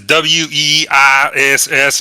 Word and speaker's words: Weiss: that's at the top it says w-e-i-s-s it's pronounced Weiss who Sorry God just